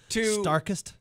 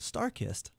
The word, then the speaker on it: StarKist: How do you say it? It's tuna. The tuna place. Starkist. Starkist. Yeah. Am I saying it right now?